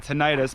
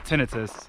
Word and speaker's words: tinnitus: sufferer of tinnitus or how i like to pronounce it tinnitus but it's actually pronounced tinnitus i highly recommend you get out in nature